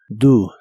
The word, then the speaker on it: do: El auxiliar do lo pronuncias como si la O fuese una U. Do, do.